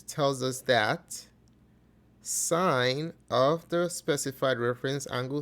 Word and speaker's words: sine: in mind is that the way it's written and the way you say that's different Okay so as a function It's s i and sin or cos cos but this is pronounced as sine and this is pronounced